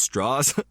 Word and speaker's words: Strauss: Strauss, which is spelt like Strauss, but he says it's Strauss, which is hard for me to do when I'm reading it.